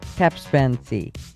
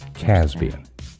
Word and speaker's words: Caspian: Or number four, Capsensi. Is that how you say it? Caspian.